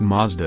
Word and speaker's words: Matsuda: The name also derives from the name of the company's founder, Matsuda, which is pronounced Mazda in Japanese.